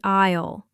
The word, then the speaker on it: aisle: It is the aisle. The letter S in the middle of the word is completely silent.